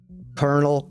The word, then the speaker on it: colonel: wants a word with you and see Colonel spelled with a K like kernel kernel it's so cool how they tie the